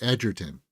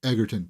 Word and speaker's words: Egerton: once you know, like, he pronounces it Edgerton. I think I have a playlist of him pronouncing it. But it's so cringe when it's like you hear people, Egerton, Taron Egerton.